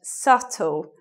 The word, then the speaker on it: subtle: And this word, subtle, it means something that is difficult to notice, a detail that, you may miss because it's difficult to notice. Subtle, silent B, not subtle or something like that.